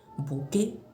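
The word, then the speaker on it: bouquet: अब कुछ लोग इसको बुके बोलते हैं। ठीक है, दो तरह से आप इसको प्रोनाउंस कर सकते हो, बुके या बुके। ठीक है, बुके या बुके, यानी कि यहाँ पे टी साइलेंट होता है।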